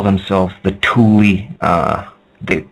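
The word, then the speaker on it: Thule: and the atlantans used to call themselves the Tuli uh the like T hu l e but pronounced t o o l i e that's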